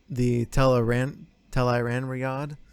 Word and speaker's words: Tel'aran'rhiod: Basically, everything is converging, and they figure out through the Tel'aran'rhiod, correct pronunciation.